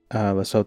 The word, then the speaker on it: Lesotho: Lesotho and Soto are pronounced Lesotho and not Lesotho.